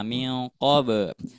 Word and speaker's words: من قبل: Terus untuk koreksinya di lafaz miqab. Nah, miqab. Nah, ketika mengucapkan huruf qalqalah, ketika difantulkannya jangan sampai lemah. Jangan miqab. Nah, itu lemah. Tetap harus kuat. Miqab.